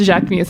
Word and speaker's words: Jacquemus: It's Jacquemus. I know it's pronounced Jacquemus.